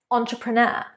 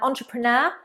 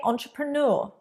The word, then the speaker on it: entrepreneur: 30, entrepreneur. Entrepreneur. And don't forget, this is a French word. So we have entrepreneur, but some people also say entrepreneur. I say entrepreneur.